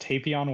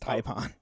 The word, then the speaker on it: Tapion: Hearing Ben pronounced Tapion was also making me cringe. Typon, isn't it? It's Typon. I It's pronounced Typon.